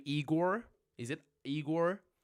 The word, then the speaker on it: Eeyore: Eeyore, am I pronouncing that correct? Tiffany Shi, yes, Eeyore is my spirit animal as well.